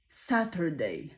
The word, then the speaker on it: Saturday: na rozwój języków europejskich wymowa Saturday lub to słowo można wypowiedzieć na kilka sposobów Zobaczmy zaczynamy od soczystego następnie szerokie jak ja to nazywam kozie potem mamy T które łączymy razem wcześniej poznaliśmy takie